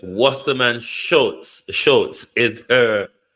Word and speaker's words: Wasserman Schultz: I think somebody sent me the pronunciation. Let me listen. Okay, so it's Wasserman Schultz.